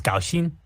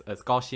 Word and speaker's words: 高兴: In Mandarin, it's gaoxin. All close. The pronunciation is gaoxing.